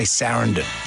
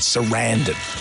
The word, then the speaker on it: Sarandon: You've got to think of abandon when you say her name because we say Sarandon, but Sarandon.